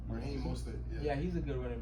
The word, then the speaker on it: Mostert: I want to put Morster's in there. Morster? How you say his name? Raheem Mostert.